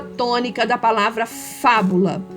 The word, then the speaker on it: fábula: paroxítona proparoxítona e tal a palavra fábula é uma palavra proparoxítona Então você vai escrever